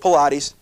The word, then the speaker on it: Pilates: it's spelled just in case you're interested and pronounced it's called pilates pilates has been around for many many years